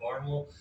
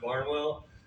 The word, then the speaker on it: Barnwell: from a small town in South Carolina called Barnwal. And I just want to give you a quick pronunciation guide because it looks like it's pronounced Barnwell, but I'm going to be saying Barnwell all the time.